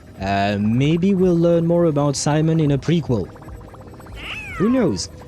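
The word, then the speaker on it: Simón: It's because yes is C, and oh right, in Spanish you would pronounce it Simon.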